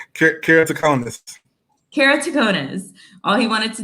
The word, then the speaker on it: keratoconus: Arthur Mitchell was diagnosed with an eye disease called keratoconus. please pronounce it for me again. All right. Keratoconus.